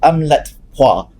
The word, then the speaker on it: AMLATPA: So AMLATPA is how you pronounced it.